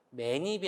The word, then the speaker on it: 맨입: 맨입이 아니고 맨입. 니은이 들어가서 발음을 하고요.